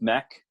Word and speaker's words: NEC: a company called NEC it's pronounced neck NEC and they make